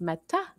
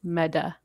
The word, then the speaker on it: Meta: t words we um often pronounce it kind of like with the d so like meta yeah you want to say meta instead of like mata you let's say meda okay uh it depends